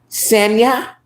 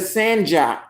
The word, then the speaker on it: Sanja: Okay, it's pronounced Sanya. Oh, Sanya instead of Sanja.